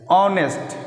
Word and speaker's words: honest: ऑनेस्ट, HONEST, honourable, तो है तो कंसोनेंट, शुरुआती जो लेटर है इसका ये क्या है, कॉन्सोनेंट है, बट इसका उच्चारण क्या है, तो वॉवेल की तरह है, तो वॉवेल से